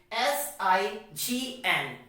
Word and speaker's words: sign: we can understand it now when the letter g comes before the letter n then the letter g becomes silent what i said when